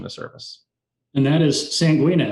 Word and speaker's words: Sanguina: And that is Sanguina. Am I pronouncing that correctly? Sanguina, that's correct.